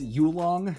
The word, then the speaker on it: Yulong: I got the YJ I mean it's pronounced ulong it's a smooth stickerless